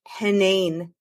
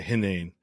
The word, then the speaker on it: Henein: It's Henein. I tell people it's like inane, but Henein. Okay, Henein.